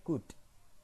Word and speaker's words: could: help me god ingat I could ini dibacanya code tidak tidak perlu ada huruf l nya di sana Ini kalau pakai bahasa